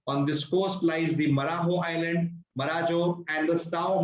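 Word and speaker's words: Marajó: Marajo, it's called as Marajo. The J is silent.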